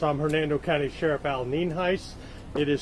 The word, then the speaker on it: Nienhuis: I'm Hernando County Sheriff Al Nienhuis. It is spelled Nienhuis and it's pronounced Nienhuis.